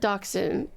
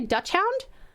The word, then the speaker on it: dachshund: I pronounce it dachshund. Some people say Dutch hound, but I say dachshund.